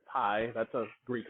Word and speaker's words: pi: if you've heard of pi which is actually supposed to be pronounced p but whatever pi that's a greek letter